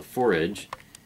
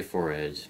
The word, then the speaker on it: fore-edge: name it's called the fored it rhymes with porridge but it's spelled for f o r e edge but don't say for Edge because then you'll sound